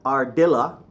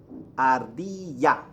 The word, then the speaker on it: ardilla: ye yeah sound okay double l always gives you a why son Double L why sound so not ardilla Rd yeah Rd yeah okay always okay the V